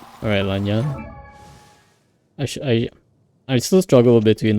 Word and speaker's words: Lan Yan: It's Lan Yan. That's how it's called, similar to how Yanfei is pronounced.